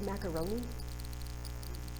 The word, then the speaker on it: macaroni: There are words like macaroni, the mac and the roan, we kind of equally stress.